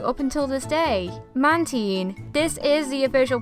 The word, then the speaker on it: Mantine: I have been mispronouncing up until this day mantin this is the official pronunciation for it but I have been calling it Mantine for the longest time another Pokémon that I